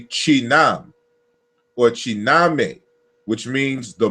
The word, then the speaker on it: Khnum: of the ancient Egyptians, they give us the correct pronunciation. It's Chinam or Kinam, to mold with clay, to join with together. And so Chinam or Chiname, the molder, that's how you would pronounce so-called Khnum.